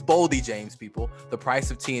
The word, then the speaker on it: Boldy James: I said Boldly. Boldy James. I could change that. It's Boldy James, people.